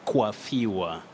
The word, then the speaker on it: coiffure: But in this case, in English, you say coiffure.